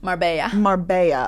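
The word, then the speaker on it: Marbella: Marabella, Spain. Is that how you say it? Marba.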